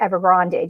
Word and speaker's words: Evergrande: uh ever grand and the chinese pronounce it evergrande just so you um will know they do add the e uh in english so they do pronounce it in china as a grande um but what